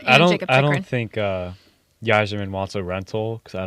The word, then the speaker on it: Yzerman: Steve Eiserman. Yeah, he I said said- Yzerman. Oh, did I? Yeah. Oh, I I know it's Yzerman, Stevie Y, but he said he Stevie actually Y. pronounced the Y.